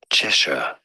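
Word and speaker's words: Cheshire: h i r e in British English it is said as cheser ches CH stress on the first syllable now in American English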